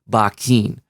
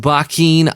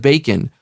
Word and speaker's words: Bakin: see more of these tutorials on RPG developer Bakken and that's how it's pronounced bikin I know you want to call it bacon I want to call it bacon too and